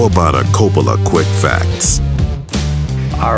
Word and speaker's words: Coppola: I say Coppola.